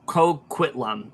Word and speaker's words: Coquitlam: Vancouver he is say it with me Port coquitlum part Coquitlam okay there we it's kind of like a